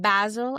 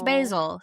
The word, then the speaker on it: Basil: And yes, I'm saying Basil as his name because he's British. Oh, and that's how they pronounce Basil.